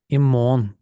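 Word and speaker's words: i morgen: залишати якесь місто місце імон імон тут у нас також цікаво пишемо і морген але читаємо імон на деяких діалектах вони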